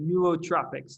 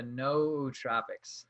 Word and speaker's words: nootropics: do you say it pneumotropics no troopers no troubics no so the the no are pronounced separately so you have like the no tropics no tropics i like it or